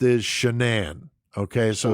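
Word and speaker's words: Shanann: the apostrophy one without but the way it's pronounced is shanan okay so it's not Shannon it's shanan it's it's it's definitely strange okay um but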